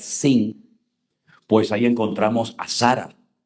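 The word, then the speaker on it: שׂ: derecha es Shin, y si te encuentras arriba un punto a la izquierda es Sin, pues ahí encontramos a Sara, porque Sara se escribe así, con esa letra.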